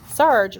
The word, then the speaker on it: Sarg: this is a picture of anthony tony frederick sarge sarge rhymes with arg from the time he was a